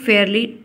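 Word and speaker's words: fairly: कि Priyanka is अ फेरली फेयरली tell गर्ल ठीक है फेरी टेल गर्ल एल नहीं पढ़ेंगे एल साइलेंट होता है फेरी टेल गर्ल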